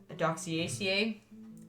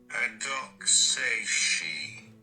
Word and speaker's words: Adoxaceae: Now, the family that this is Adoxaceae. Let's see if I can get a better pronunciation of it. Adoxaceae.